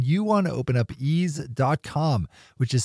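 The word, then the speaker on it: Eaze: brought to you by our friends over at ease California's top one-stop website for legal marijuana delivery if you live in California need fully legal cannabis delivery at a great price then you want to open up ease calm which is spelled EI z e these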